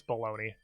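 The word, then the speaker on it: bologna: seen that word before you ignore the g you don't pronounce it it's baloney smart brain i just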